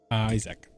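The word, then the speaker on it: Izek: Oh, Isaac. Okay. Oh, yeah. I suppose that makes more sense. What? No, he's Isach.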